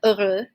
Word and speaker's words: heureux: Which is related to this adjective heureux, heureuse, oui, okay? And just another note with this, we do not pronounce the H at the beginning, okay? So it's actually silent.